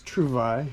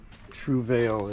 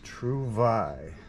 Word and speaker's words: Trouvaille: the Kent Trouvaille, and that's how you pronounce it. It's Trouvaille. It's not Trouvaille. It is Trouvaille. En français, je peux parler en français. Trouvaille, which means find.